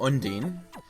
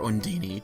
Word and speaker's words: Undine: Anyway, we're about to use our new soul, Undine, or Undini, depending on how you care to pronounce it, which lets us walk on water.